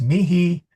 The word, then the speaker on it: mihi: Yeah, mihi is mihi, nihil is nihil. The H is no, okay.